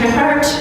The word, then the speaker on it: Trippert: Hi, I'm Trippert. Yes, that's how you say my weird-ass last name.